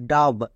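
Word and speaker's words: dove: আর যদি শেষ হই ঠিক তার পাশে একটা সাইলেন্ট ই দিয়ে দেবো একই রকম এভাবে দেখো ডি ও ভি ই ডাব তাহলে লিখতে গিয়ে বুঝবো কি করে যখন দেখতে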